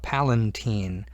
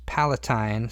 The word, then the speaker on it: Palatine: the Palatine bone and notice how it's spelled it does not have an N here a lot of people try to put an N there and call it Palatine almost like Valentine but it's not it's it's Palatine sometimes pronounced Palatine and